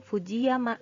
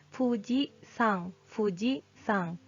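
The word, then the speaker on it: 富士山: Jadi kalau dia berdiri sendiri dibacanya yama, tapi kalau misalnya biasanya minasang suka dengar ya Fuji, Gunung Fuji disebutnya bukan Fujiyama. Ini bukan bacanya Fujiyama tapi Fuji Sang.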